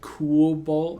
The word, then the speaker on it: Cobalt: There's Cobalt, but then it's pronounced like Cool Bolt.